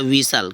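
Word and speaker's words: whistle: एस टी एल ई तो क्या होता है विसल क्या होता है विसल तो विसल विसल होता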